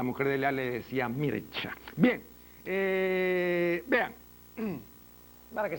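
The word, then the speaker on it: Mircea: famoso religió mano el es mircia se escribe mircia No pero se pronuncia mircha no cuando conversaba yo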